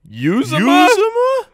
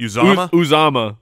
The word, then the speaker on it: Uzomah: CJ Uzomah? We got the pronunciation from the Bengals pronunciation guide, but then the actual broadcasters did not Siciliano said something different. Uzomah?